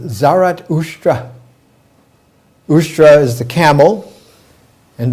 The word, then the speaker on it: Zarathustra: In his language, Avestan, his name is pronounced Zarathustra.